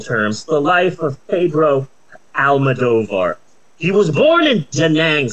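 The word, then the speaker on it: Almodóvar: in question Mr Pedro Alma dovar there's no I keep wanting to pronounce Pedro alamodovar but that's not his name bro Al madovar and I have a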